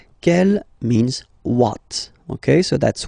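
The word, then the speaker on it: quelle: q l l but it's pronounced like the masculine form Kell the masculine k at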